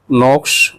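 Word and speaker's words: Knox: library catalogue यह Raymond नोक्स holding का है के साइलेंट है ना नोक्स पढ़ेंगे इसको सब्जेक्ट एंट्री च रेफर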